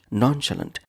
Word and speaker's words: nonchalant: 24 today's word is nonchalant nonchalant three syllables nonchalant nonchalant is an